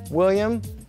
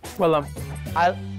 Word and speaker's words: Willam: William? Willam. Willam, thank you. It's spelled right on my headshot, it's in there, so just on the way out.